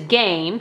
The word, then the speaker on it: game: So this one is game. So they're going to do g-a-m. And then there's a star here telling them that the E is silent.